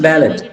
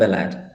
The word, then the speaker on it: ballot: contexts here oh okay it is pronounced ballot okay not balad the book reads like